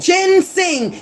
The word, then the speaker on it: ginseng: ] called oregano ginseng that's how you pronounce that ginseng Jin sing it's not even an